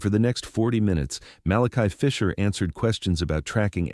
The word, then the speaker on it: Malachi: He pronounced it Malachi, three distinct syllables.